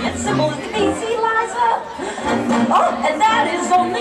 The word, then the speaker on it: Liza: It's Liza with Z, not Lisa with an S, cause Lisa with an S goes snuff. It's Z instead of S, Lie instead of Lee.